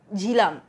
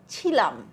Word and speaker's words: ঝিলাম: করে করবে তাই না আমার এই ঝিলাম নামটার জায়গায় আমাকে কেউ কিভাবে ডাকে ছিলাম ছয় হর্ষই লয়া আকার আমি নাকি ছিলাম আমি কি পাস্ট টেন্স